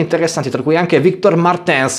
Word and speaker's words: Martins: tra cui anche victor martens o martins come dovrebbe essere pronunciato alla portoghese seconda posizione dietro caldwell